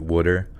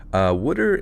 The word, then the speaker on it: water: Why don't I pronounce it Wooder? Wooder is more of a South Jersey thing. But there's this weird sort of generational thing around Pennsylvania where like the older generation will say Wooder or Warshed.